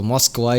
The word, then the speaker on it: Moskva: So Moskva, it is the real thing, I guess. Not Moscow, Moscow, whatever.